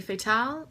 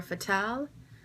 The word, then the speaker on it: Fatale: You can say Fatale or Fatale, Fa, it doesn't matter to me. It's French, it means fatal. And without the E at the end, it's pronounced fatal. But with the E, it's fatale, like femme fatale.